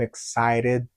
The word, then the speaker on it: excited: N'oubliez pas, la lettre T entre deux voyelles se prononce comme D.